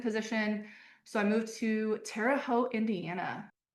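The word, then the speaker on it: Terre Haute: So I moved to Terote, Indiana. It's an interesting place to be. Where? Terraote.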